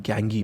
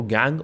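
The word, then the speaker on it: gangue: अब बात आते हैं गैंगी पे। देखिए इसको गैंग और गैंगी दोनों प्रोनाउंस कर सकते हैं।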